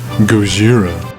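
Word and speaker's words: ゴジラ: with this guy too in Japan it's actually pronounced Gojira beat it fake nerd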